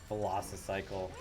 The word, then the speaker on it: Velocicycle: Velocicycle. Like it's spelled like a Velociraptor.